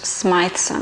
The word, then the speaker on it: Smythson: And as you know, Smythson, sorry, it's pronounced Smythson, I keep forgetting that. They're a really good leather and stationery company from London, from Bond Street actually. It's called Smythson of Bond Street.